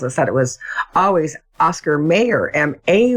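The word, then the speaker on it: Mayer: name you know John Mayor the musician that's pronounced mayor and that that particular spelling says may or not Meer and so but they're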